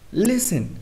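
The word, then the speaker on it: listen: क्या पढ़ेंगे ऑफ एन लिसन मी सुनना यहां भी एस के बाद 10 ए रहा है तो हमारा टी क्या रहेगा साइलेंट तो हम इसे क्या पढ़ेंगे लेसन वर्ड की लास्ट में ग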